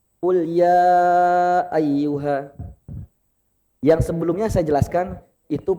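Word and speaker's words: أَيُّ: Kemudian catatan yang selanjutnya ayyu, lafaz ayyu. Jadi itu kan ada tasydid Bapak ya, itu ditekan ayyu. Jadi enggak datar, enggak monoton, enggak datar bahasanya, enggak qul ya ayyuha, harus ada tekanan. Qul ya ayyuha, ayyuha seperti itu.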